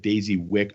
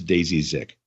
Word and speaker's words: Daisy Zick: me at the beginning i may have said daisy wick i do apologize it's daisy zick yeah you did say